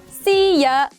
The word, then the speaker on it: szia: If you need some help, try to say szia, but keep the Y silent.